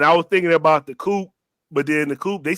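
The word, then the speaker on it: The Coup: Yeah, you don't pronounce the P. It's the Coop.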